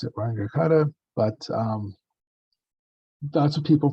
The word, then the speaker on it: Runge-Kutta: I found out that I pronounced this weird because this is what my teachers pronounced it was Wangekutta. If you look up, this guy, these two people, for differential equation solutions, you're gonna hear Runge-Kutta, which sounds awful to me.